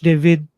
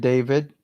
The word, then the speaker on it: David: this I'll go with David or David as what we call that name or pronounce that name in our part of the world Spanish pronunciation yeah Spanish pronunciation yeah David